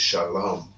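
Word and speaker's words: שלום: When you read it in the Hebrew, it says there is a wa, but it's silent. It's shalom. You understand?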